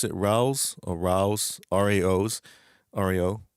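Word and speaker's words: Rao's: How do you pronounce it? Rouse or Rouse? Raos, Rao.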